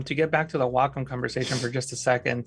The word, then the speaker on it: Wacom: goes by the way it's wacom not wacom so i mispronounced the